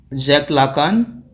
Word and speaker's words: Jacques Lacan: Okay, Michel Foucault, Jacques Lacan, Julia Kristeva, and Roland Barthes. Okay, Roland Barthes. That's how these names are pronounced.